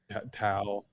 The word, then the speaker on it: Tao: It's just, you just pronounce the T with a D. Oh, okay. Well, you can say Tao or Tao is the same thing.